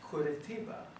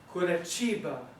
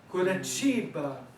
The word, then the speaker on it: Curitiba: Now, most people would look at this and pronounce this word Curitiba, which is not incorrect. The Spanish, the Portuguese would say Curitiba. In Brazilian Portuguese, Curitiba, Curitiba. The T followed by an I is a ch, ch.